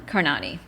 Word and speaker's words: Karnani: so now I I I use the pronunciation Kiran carani well Karan can you